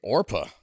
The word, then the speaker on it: Oprah: off top Oprah's real name is actually orpa but got mispronounced so many times that she was like yeah we'll stick with this Oprah thing play the music this